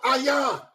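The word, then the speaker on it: עין: The I in Hebrew is called ayan. It's your eyeball, your eye. It's a picture of an eye, and it's pronounced ayan.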